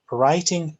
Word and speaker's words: writing: Well, writing does not start with R, it starts with a W, but in pronunciation that's R. So it sounds quite funny because it's not R actually, but it sounds.